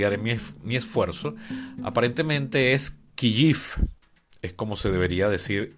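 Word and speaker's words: Kyiv: en mi Twitter, que la pronunciación en ucraniano es realmente Kiyif. Y bueno, le escribí y me dijo que es algo así como decir giif.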